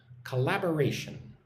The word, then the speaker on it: collaboration: So look at the word collaboration. Ka-la-ba-ration. So 5 syllables, collaboration.